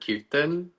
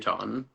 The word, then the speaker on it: kirtan: often pronounce it kon. M. So it's like you're it's it's the I often becomes a little bit longer than it's supposed to be.